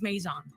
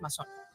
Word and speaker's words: Mazon: It's for the gringos is Maison. Yeah, Maison. Actually, there's two. There's the gringo part, the Maisons, and there's also the Mexican from Sonora is Mason.